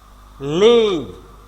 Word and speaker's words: leave: then go যাওয়া, leave টেনে পড়তে হবে একটু, একালিফ, leave যাওয়া, ত্যাগ করা, চলে যাওয়া, ছেড়ে যাওয়া।